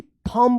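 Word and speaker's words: thumb: एच यू एम बी थंब पढ़ेंगे यहां पे बी जो है ना साइलेंट रहेगा टी एच यू आर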